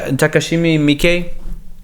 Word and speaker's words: Takashi Miike: The way that Takashi Miike.